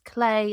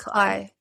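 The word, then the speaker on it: Cley: So we've had a whole debate that weekend as to whether it was Clay or Cly. It's spelt C-L-E-Y. It was Cly.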